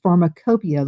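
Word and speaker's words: Pharmacopeia: And also um US Pharmacopia. Let me spell that for you. US and then P H A R M A C O P E I A. It's spelled a little differently than it sounds.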